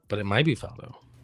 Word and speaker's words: Faldo: I said but it might be Faldo. It's Nick Faldo. Faldo.